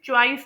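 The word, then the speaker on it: choice: है इंग्लिश की तो हम लोग इसे चॉइस प्रोनाउंस करते हैं। यानी हम लोग साउंड को वोवेल साउंड को गलत तरीके से ओ आई ओ आई के तौर पर प्रोनाउंस करते हैं।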